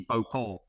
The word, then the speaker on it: Beauport: Do not pronounce the T, or you'll get in trouble if you pronounce the T. Beauport, a place in Jersey.